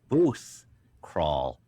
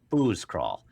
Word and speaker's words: booth crawl: Booth crawl, There you go. booze crawl.